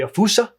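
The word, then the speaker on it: fossa: an animal that I identified as being a FASA or if you want to pronounce it in more malagasy way ausa some people pointed out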